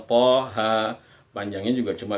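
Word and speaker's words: طه: Nah, ini bacaan to-nya, ini huruf to dan huruf h. Kita baca sesuai namanya, Toha. Panjangnya juga cuma 2 ketukan. Toha.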